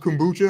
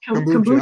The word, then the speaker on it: kombucha: How's it pronounced? Kombucha or whatever? Kombucha.